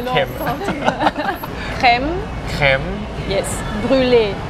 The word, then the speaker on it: brûlée: Crème Brûlée. Crème Brûlée. Crème Brûlée. Let's start with crème. Crème. You know crème means, right? Yeah, I know. Crème. Crème. Crème. Yes. Brûlée. Brûlée.